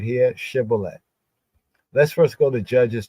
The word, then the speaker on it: shibboleth: So they say to him, now say shibboleth. And he said, sibboleth, for he could not frame to pronounce it right. Like in some languages, some people in the culture would say shibboleth, while this one could not frame his mouth correct to say shibboleth, to syllabate the S, shibboleth.